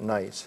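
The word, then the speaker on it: gneiss: GNE ISS okay and you pronounce it nice so this is a nice piece of nice and you'll see here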